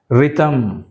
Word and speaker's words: rhythm: Rhythm, right? H silent.